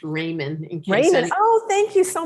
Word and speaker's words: Ramin: let you know that my last name is pronounced Raymond Raymond oh thank you